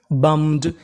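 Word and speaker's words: bummed: बी U double M. इसे पढ़ते हैं बम। क्या पढ़ते हैं? बम। यू का यहां पे उच्चारण आ होगा। और आखिरी में लिखा है ई डी। तो मीनिंग क्या बन गई? बम्ड।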